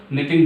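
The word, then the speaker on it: knitting: इसमें के साइलेंट रहता है इसलिए हम इसको निटिंग बोलते हैं।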